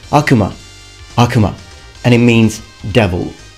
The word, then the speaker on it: Akuma: I hear a lot of people pronouncing it Akuma. The real pronunciation in Japan is Akuma.